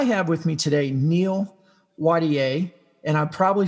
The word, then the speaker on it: Wattier: pronounce your name properly the last name is watier but ironically it is french and uh i don't